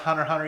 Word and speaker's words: Hunter x Hunter: I don't, truthfully, it's pronounced Hunter x Hunter even though it's got the X between them.